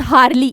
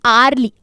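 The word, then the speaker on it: early: नाउ आर्ली, इट्स नॉट हार्ली, इट्स आर्ली, आ ओ की आवाज आती है।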